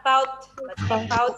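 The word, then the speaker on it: bought: Terus yang terakhir adalah bout. Orang baut. Enggak ya. GH-nya itu enggak dibaca. Langsung ke T.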